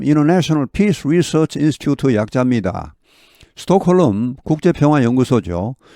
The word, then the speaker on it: Stockholm: 스톡홀름 국제평화연구소죠. 우리말로는 스톡홀름이지만 영어 발음은 L이 발음 나지 않습니다. 스톡홈 이렇게 합니다. 스톡홈 L이 무음이죠.